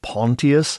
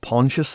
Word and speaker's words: Pontius: the crucifixion of Jesus I assume the Romans would pronounce it pon pilate not pontious the way we tend to but very little is